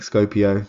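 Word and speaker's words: skopeo: e o l scorpio scopy i'm not quite sure how to pronounce that but uh scope i think scopio so as in scope it out so works for me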